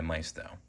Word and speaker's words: Maisto: scale Mercedes-Benz ml55 AMG made by Maisto or Mao depending on how you like to pronounce their name I got this model